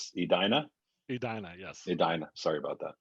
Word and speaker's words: Edina: I'm Pennsylvania German, so we're known to butcher pronunciation, so I apologize. So it's Edina? Edina, yes.